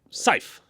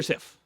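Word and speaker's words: Syf: That's pretty good pronunciation of it. Works fine enough. Great. So you work with Scythe. That's how you say it. Sif? Okay, Sif.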